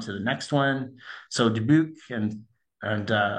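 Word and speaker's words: Dubuque: So, Debuke and and uh apologize for my Western Canadian pronunciation if it's a little bit off, but uh in Debuke, similar sort of thing.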